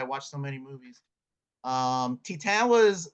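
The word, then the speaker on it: Titane: happens next I have I think it's pronounced Titan because it's French uh directed by Julia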